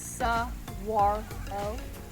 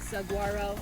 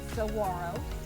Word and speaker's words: saguaro: made it to the top it is pronounced Saguaro so if you have been saying Saguaro or um favorite very very funny and it's